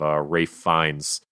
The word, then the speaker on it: Ralph Fiennes: And now we obviously have Ralph Fiennes, which is spelt neither Rafe nor Fiennes, as M now.